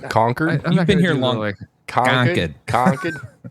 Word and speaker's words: Concord: No, say it right. Come on. Concord.